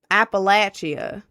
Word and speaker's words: Appalachia: You're saying it wrong. Appalachia.